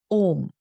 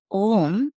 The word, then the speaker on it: Om: The difference here is, as Om, you are reciting it as single syllable sound, where M is not a syllable here. M is not a syllable in the sense of a consonant. You know, there is a consonant M. That is why I'm constantly reminding that it is not M, it is NG.